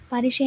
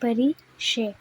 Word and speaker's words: پریشے: Doctor پریشا جہاں سے۔ پاریشے، اس نے اپنے یورپی لب لہجے میں اس کا نام دہرایا۔ پاریشے نہیں، پریشے۔ میرے نام کے پیچھے کیوں پڑ گئی ہو نشا؟